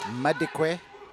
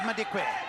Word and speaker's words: Madikwe: Edith Madikwe. Yes, it's spelt with an L, it's pronounced with a D.